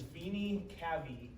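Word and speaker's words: venae cavae: are called the vini the way to pronounce this is vini kabi kabi there are two of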